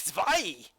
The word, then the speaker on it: zwei: Take zwei! At least I know that W is pronounced with a V.